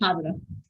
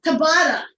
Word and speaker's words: Tabata: talking about one and she mispronounces tavita it's tabata three two one rest okay